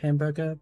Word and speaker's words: hamburger: I just remember the whole hamburger bit. Oh, hamburger. Because technically the H is silent in French. I say technically, it's literally silent.